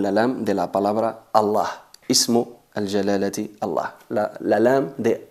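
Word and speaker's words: الله: es atenuada pero aquí la letra lam de la palabra allah en concreto se pronuncia enfatizada en función de la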